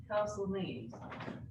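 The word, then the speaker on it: Castle Menzies: Castle Meads. Castle Meads. So it's spelled, yeah, I can't spell, you've got a Z in the middle for some reason.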